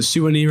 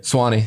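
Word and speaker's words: Suwanee: mean you're from Georgia you're from was it suani right Swani Swani sorry for the mispronunciation worries I mean that's a far ways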